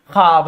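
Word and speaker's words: خواب: ठीक है, लेकिन यहाँ पे अगर लिखा जा रहा है यहाँ पे ख्वाब लिखा गया है, वाव की तलफ्फुज प्रोनाउंसिएशन नहीं हो रही है। जब वाव की तलफ्फुज ना हो, प्रोनाउंसिएशन नहीं हो, उस हाल में वो वाव को वाव मादुला कहते हैं।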